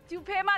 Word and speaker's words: तुफेमा: यहाँ के लोग इसे तुफेमा कहते हैं।